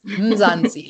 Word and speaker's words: Mzansi: Let's uh say it one more time for those that wanted to make sure they get the pronunciation right. Mzanzi Lounge.